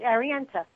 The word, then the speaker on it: Arienta: Now, Arienta, first I want to ask you, is did I get the pronunciation right on the name? You did, Arienta.